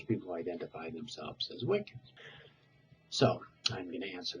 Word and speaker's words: Wicca: When you consider that the Saxon CC was pronounced TCH, it becomes easier to